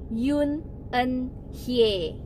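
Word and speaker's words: Yoon Eun-hye: gitu tapi kalau misalnya ini di itu adalah Ye bukan Hai jadinya song hye-kyo Yoon eunhye kayak gitu bacanya benar-benar seperti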